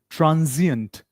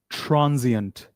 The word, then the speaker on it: transient: Achievement, shortcoming, idol, transient. Repeat after me the pronunciation s here it is pronounced as z. Repeat after me. Transient.